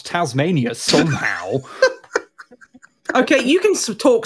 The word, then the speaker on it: Tasmania: know how to pronounce Tasmania somehow okay you can talk smack about Tasmania all day no one in Australia cares but it is pronounced Tasmania saying that though that